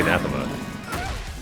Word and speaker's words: anathema: Is it like a, you know, it's actually anathema.